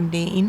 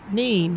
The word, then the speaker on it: Nene: Look at that, In down Northampton, it's pronounced Nen, and around Peterborough, it's usually pronounced Nene.